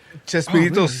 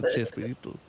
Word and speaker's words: Chespirito: sorts because it's just it's spoken phonetically, so it becomes they say, "Hey, it's Shakespeareito," and then everybody's like, "Yeah, it's Chespirito." So the sh and they drop the K and put a ch instead of the sh because we